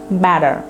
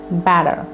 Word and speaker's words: better: Feeling বেটার নয়, better ঠিকগুলোকে ডি এর মতো উচ্চারণ করো, কারণ এই দুই পাশে ভাওয়েল আছে। সো better, I'm feeling better, I'm feeling better.